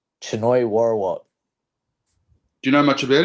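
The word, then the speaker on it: Chainoi Worawut: How do you pronounce his name? Choi Warawat.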